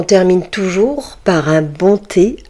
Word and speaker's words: thé: On utilise souvent du thé vert de Chine. Le thé. Voyez les amis, le H du mot thé ne se prononce pas. Il reste muet.